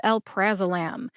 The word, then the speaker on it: alprazolam: pronunciation and breakdown of el prazolam el praam has four syllables Al like Alabama pra like practice practice Mak Perfect Right